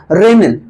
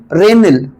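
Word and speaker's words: Ranil: इनका नाम है रेनिल। रेनिल आर ए एन आई एल रेनिल।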